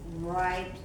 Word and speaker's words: write: Jangan membacanya pakai W, write.